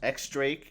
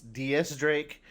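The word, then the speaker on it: X Drake: recently found out that his name is not pronounced x-drake it's ds drake and i i can't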